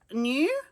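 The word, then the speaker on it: NUE: And then we also have this N U E new. Is that how they pronounce that?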